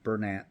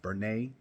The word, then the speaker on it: Bernat: first up we have some people pronounce it Bernat some people pronounce it as Bernay it's okay we we know what everyone's talking about um so I call it Bernat other people call it